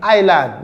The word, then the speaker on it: island: The word is island, not Island.